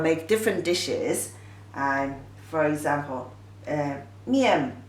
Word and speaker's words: 面: The pronunciation is 面.